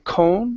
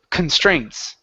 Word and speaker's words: constraints: So, on this word here, the stress is on the very end. here at the beginning instead of saying cone it's con constraints constraints okay very good so